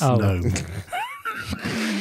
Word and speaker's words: GNOME: That was the K is silent. It's GNOME.